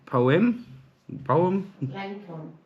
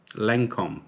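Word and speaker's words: Lancôme: I don't know how to pronounce it. Poem? Lancome.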